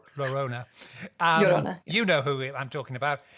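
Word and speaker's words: La Llorona: but there's uh but la lorena no say it wrong totally wrong lorona know who i'm talking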